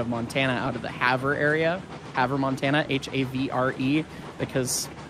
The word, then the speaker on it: Havre: And so this is a story from his dad out of Montana, out of the Havre area. Havre, Montana, H-A-V-R-E, because it's spelled weird.